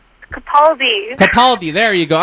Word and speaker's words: Capaldi: of this new doctor Peter how do you pronounce his last name Capaldi Capaldi there you go all right so give